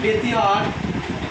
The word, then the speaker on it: ব্যতিহার: এর উচ্চারণ কি হবে? ব্যতিহার হবে না ব্যতিহার? ব্যতিহার। যেহেতু এখানে জ ফলার পর রস্বই আছে, তাই না? তাহলে এই উচ্চারণ হচ্ছে ব্যতিহার।